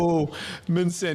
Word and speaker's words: Omanson: Omanson, but everybody says Omanson, so it's totally fine. Oh, Manson. Yeah, there it is. I gotta really pronunciate that O.